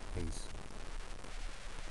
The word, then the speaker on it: Pace: But it wasn't pronounced like that. It's Faustina Pace. So it's like the hiss, pace.